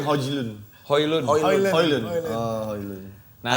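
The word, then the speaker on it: Højlund: Bacanya Hojlun.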